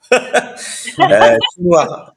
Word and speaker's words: Chesnouard: Chez Noir. On dit chez Noir. Le S, on le dit pas. Mais après, Ah, d'accord. Chez on est Noir. chez Noir.